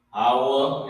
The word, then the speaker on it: Hawa: Alright, that's how you pronounce it. Hawa, it means to be.